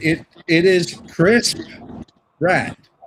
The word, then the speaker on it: Pratt: It is Chris Pratt. Pratt. Like the college.